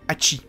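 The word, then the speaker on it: 蜂: Number 8 a l'idéogramme abeille, car 8 et abeille peuvent se prononcer Hachi.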